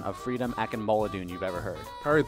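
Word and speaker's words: Akinmoladun: right what is the worst pronunciation of freedom a can mullah do you've ever heard carried that one what is the correct pronunciation freedom akima Laden who's your BFF on the team prior to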